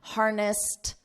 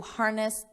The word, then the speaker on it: harnessed: Because this ends in an unvoiced s, we add a soft T on the end, harnessed the wind.